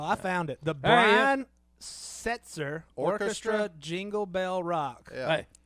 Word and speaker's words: Setzer: the guys name it the league guitar brian switzer i'm probably pronouncing that wrong yeah it may not be